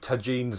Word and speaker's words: tagines: Although, with the C, it's fine on its Tagines is fine, by the way. It's a Darren. It can be pronounced with a hard or soft J because the entry lists it with a G.